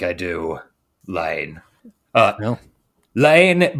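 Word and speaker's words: La Haine: Lane, by the way, is spelled L-A-H-I or H-A-I-N-E. It's French.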